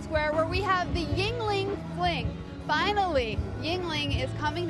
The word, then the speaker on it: Yuengling: And yes, it's pronounced Yuengling.